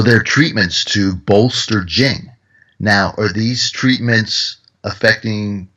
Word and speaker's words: Jing: So they had concepts like Jing, and that's spelled J-I-N-G.